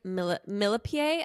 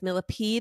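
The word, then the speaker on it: Millepied: Benjamin's last name as millipede because that's how it's spelled but apparently it's French and it's actually pronounced millipie but I think millipede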